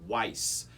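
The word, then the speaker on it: Wyss: And the model name that this violin is given is a Frederick Weiss, and that's spelled capital W-Y-S-S.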